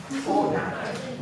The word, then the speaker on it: Fortnite: Minor pronunciation. Fortnite.